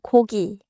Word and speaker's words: 고기: Small pronunciation catch. 모기 and 고기 are different.